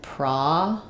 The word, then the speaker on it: processing: So in processing, my O is actually an ah vowel. And it has first syllable stress. So you're going to think about that like processing.